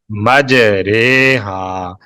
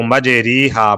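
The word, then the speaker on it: مجراها: لفظ لکھنے میں مجری ہا آیا ہے, لیکن پڑھنے میں ہم اس طریقے سے پڑھیں گے جس طرح کے اردو لفظ قطرے پڑھا جاتا ہے, اسی طرح اس کا تلفظ کریں گے مجرے ہا. مجری ہا لکھا ہوا ہے, اس کو مجری ہا پڑھنا غلط ہے, مجرے ہا.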